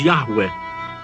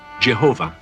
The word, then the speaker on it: Yahweh: One of the oldest passages of the Torah celebrates their deliverance by their God, a God whose name modern scholars reconstruct as Yahweh, and many Christians pronounce Jehovah.